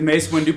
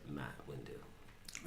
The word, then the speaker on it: Mace Windu: With the Mace Windu purple kyber crystal. It's Mace Windu. That's what I said. Mace Windu. You didn't pronounce the And 2. You said Matt Windu.